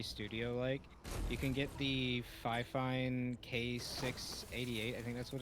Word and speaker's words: Fifine: I'm surprised you said Yeah, Fifine. I say that's not Fifine. good. Or at least that's what I hear. The pronunciation of it is Fifine. That's how the company pronounces it.